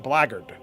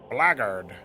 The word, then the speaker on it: blackguard: It's it's black guard is how you would pron spell it, but it's pronounced blard. And if you don't believe me, you can search it up and then try to listen to the pronunciation.